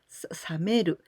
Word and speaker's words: 冷める: And in this case, we use with this pronunciation, sa, this kanji, we pronounce sameru.